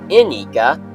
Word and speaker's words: Ignika: Toa, the Toa Ignika, yes, it's pronounced Ignika, some people pronounced it as Ignika, but it's Ignika.